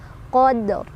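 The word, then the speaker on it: قدر: Qadr, karena ro-nya tebal, qadr. Tuh ya.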